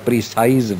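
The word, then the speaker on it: précis: है बुनियादी तौर पर प्रीसाइज वर्ब है, उसमें से ये अखज़ किया गया है, प्रीसाइज में से. तो प्रेसी, इसका आखिरी जो है ना बेटे एस जो है वो साइलेंट रहता है बोलते हुए, बाज़ बच्चे इसको मिस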